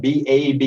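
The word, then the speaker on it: Báb: Now that's spelled B-A-B, even though we pronounce it as Bab, and that is a word that simply means the gate, opening the way.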